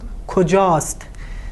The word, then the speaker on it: کجاست: So "الف" is dropped and it's pronounced "کجاست".